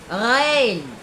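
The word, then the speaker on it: غ: Terus huruf ghain. Ghain itu berasal dari kerongkongan dalam, ya.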